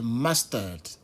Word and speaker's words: mustard: Bon, c'est comme ça, nous, on a l'habitude de prononcer, mais je pense que c'est mustard.